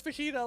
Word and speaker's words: fajita: Fajita alone is something that we should never pronounce like English. Like never, never pronounce fajita like it's English.